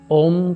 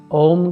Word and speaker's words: ओम: मैं आपको बताता हूं ओम के अंदर अ उ म या ओ ऊ मा अकार उकार मकार बिंदु संगिक स्थिरा मात्रा धा